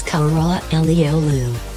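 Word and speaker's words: Karaalioğlu: black only son and the pronunciation is cholera Lal Lu number five call me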